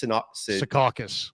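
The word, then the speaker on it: Secaucus: been leaked um from the NBA headquarters in sakis is that you pronounce it s sakas sakas thank you uh in sakas New York it found out that it could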